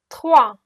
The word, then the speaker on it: trois: Trois, S is silent.